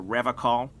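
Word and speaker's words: Revachol: to stay strong for rev call he pronounces rivercon with a hard k unlike other people i like to pronounce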